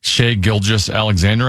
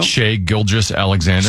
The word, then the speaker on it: Shai Gilgeous-Alexander: Do you know how it's pronounced? Shai Gilgeous-Alexander, I believe.